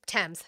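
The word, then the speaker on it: Thames: Uh a statement released by Tames Valley, it's Tames. Thank you. I knew I was saying it wrong.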